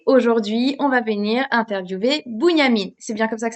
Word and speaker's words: Bunyamine: du mentoraat et aujourd'hui on va venir interviewer Bunyamine. C'est bien comme ça que ça se prononce ? Bunyamine.